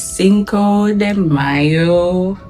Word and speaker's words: Cinco de Mayo: I finished work today, and today is Cinco de Mayo. So that's how it's pronounced, and it's also Taco Tuesday, and it's also my cousin's birthday.